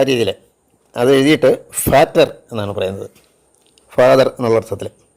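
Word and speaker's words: Vater: വി എ ടി ഇ ആർ ഇംഗ്ലീഷിൽ വി എന്നുള്ള ഉച്ചാരണം അല്ലെങ്കിൽ ഫൗ ആ ആ രീതിയിൽ അത് എഴുതിയിട്ട് ഫാറ്റർ എന്നാണ് പറയുന്നത് ഫാദർ എന്നുള്ള അർത്ഥത്തിൽ പിന്നീട് ഒരു അക്ഷരം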